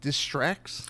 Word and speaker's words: Distraxx: My name is Fresman and today I'm joined by I hope I'm pronouncing this right. Is it Distracts?